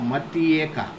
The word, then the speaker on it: Matyeka: But phonetically, if you speak, no, Matyeka. Matyeka, Matyeka, Matyeka, Matyeka, Matyeka, Matyeka. Very speed, full speed. Matyeka, Matyeka. Matyeka will be pronounced. Matyeka. Join and with with full speed if you will speak, as you have joined them without anything in between. Matyeka, Matyeka. Tyeka will be pronounced.